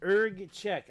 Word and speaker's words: Erg Chech: of urge check ERG check what is that ERG check I even checked the pronunciation ERG check this is it ERG check